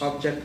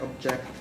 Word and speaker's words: object: and have two syllables object object yeah object so object is the verb and object there are